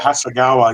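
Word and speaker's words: Hasegawa: Hasagawa, is that how you say it? Oh. Yeah, Hasagawa.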